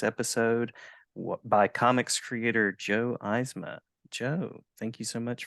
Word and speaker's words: Eisma: joined on this episode by Comics Creator Joe eisma Joe thank you so much for joining me and I hope I pronounced your name correctly I didn't think to